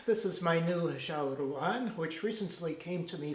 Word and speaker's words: ruan: is my new lishala rule on which recently came to me from a China Chinese is a tonal language and rule on has to be pronounced with a rising tone otherwise the Lord might